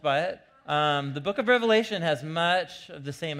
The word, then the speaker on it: Revelation: the book of the revelation not revelations with an S on the end it's the most common mispronunciation of the book the revelation and you know I